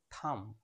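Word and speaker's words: thumb: lamp হবে না ব উচ্চারণ হবে না ল্যাম বি এর আগে এম রয়েছে এর সঠিক উচ্চারণ হবে থাম নট থাম বা উচ্চারণ হবে না থাম বি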